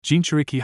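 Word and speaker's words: Jinchūriki: Jinchuriki. Hiashi pronounced the syllables slowly so Naruto could learn how to say the word properly.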